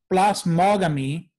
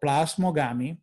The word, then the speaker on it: plasmogamy: So plasmogamy or plasmogamy, you may choose to pronounce it either way, is going to be when the two hypha meet.